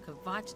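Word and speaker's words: Kvatch: started but it burned kavatch to the ground okay good i've been pronouncing it correctly i was worried that i was staying around this whole time like if the k was silent just now it's it's morning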